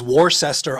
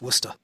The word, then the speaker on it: Worcester: Definitely says Warsester on the sign but it's absolutely pronounced Worcester.